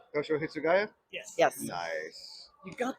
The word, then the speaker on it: Toshiro Hitsugaya: Because I always forget how to pronounce the name. Teshiro. Toshiro Hitsugaya.